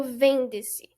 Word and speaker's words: vende-se: E a sílaba tônica dessa palavra é o vende-se.